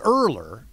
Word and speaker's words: Ehrler: people can't write because it's earlier it's earlier so I'm gonna spell it er L er is that right no it's eh r l ER as a matter of